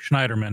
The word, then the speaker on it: Schneiderman: Well, so what happened yesterday with Eric Schneiderman, who's the New York? How you pronounce that last name?